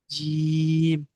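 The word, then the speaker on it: ج: টানবেন এরপরটা জি জিমটা যখন উচ্চারণ করবেন জিমটা যখন উচ্চারণ করবেন জিবের মাঝখানটা উপরের তালুর সঙ্গে মিলাবেন মিলালে কি হবে চেপে উচ্চারণ হবে জিম জি জি আ ঢাল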